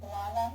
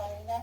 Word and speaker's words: Alana: Okay, actually my name's Alana, not Alina, but most people mispronounce it.